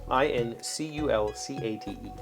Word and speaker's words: inculcate: next word this inculcate the emphasis according to the pronunciation key is on the in uh this next word